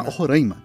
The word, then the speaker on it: Roraima: do seu próprio país tem uma briga de como se pronuncia o nome Roraima Roraima e muitos especialistas dizem que os dois estão certos na verdade é bem